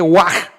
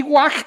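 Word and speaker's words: waaj: palabra termina en j y no se lee all sino se lee wag y guag quiere decir tamal de hecho Tenemos aquí este signo el logograma gu guaj y arriba tenemos de hecho otra sílaba la sílaba Wa que sirve para indicar que este logograma comienza con el sonido Wa y termina con el sonido j se les ponen estos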